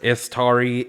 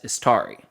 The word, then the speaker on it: Istari: So real quick, these are 3 different pronunciations. Istari, Ishtar, Istar. So Istar is what is used in the books, as well as Istari. So Istari is plural, Istar is singular.